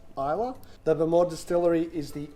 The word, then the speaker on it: Islay: It's not Islay, it's pronounced Islay.